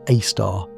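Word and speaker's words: A*: Sagittarius AAR, pronounced AAR, is the super massive black hole at the center of our galaxy.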